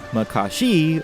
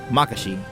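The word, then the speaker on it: Makashi: intonation the difference between Mycoskie or maka she for me I go with the former splitting each syllable distinctly like mihashi or actually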